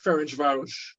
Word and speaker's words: Ferencváros: John, early in your career now, that trip to Ferencváros, I pronounce that correctly, in Hungary? Yeah, Ferencváros.